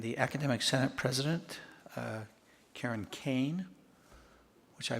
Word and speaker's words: Kane: We're now to reports, and the Academic Senate President, Karen Kane, which I mispronounced at the State of the College and called her Kerr, and I'm only blaming it because Megan Kerr, I introduced her right before Karen Kane.